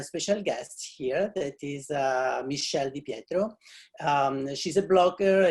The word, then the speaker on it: Michele: Your name is spelled Michele with one L, that in Italian is Michele. So when you go to Italy, it's always a problem for you. You have to explain your first name.